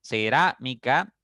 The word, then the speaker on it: cerámica: Cerámica, ra es la sílaba tónica porque está la tilde en la a.